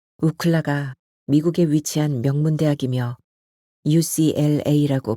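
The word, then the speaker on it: UCLA: 친구들은 중학교 내내 붙어다니며 우클라 아는 서클을 결성했는데이는 시장에서 산 모자에 적힌 그럴사한 영 단어에서 따온 것이었다 우클라 미국에 위치한 명문 대학이며 ucl 라고 발음해야 한다는 사실을 알게 된 건 나중에 일이었다 우클라 1 우클라 2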